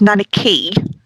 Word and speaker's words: Nanaki: my favorite car a so I know it's pronounced nanaki but obviously Miss Miss bud could not pronounce